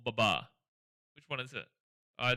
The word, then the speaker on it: Babar: I want to ask you is it pronounced Baba or Baba? Like Baba or Babar?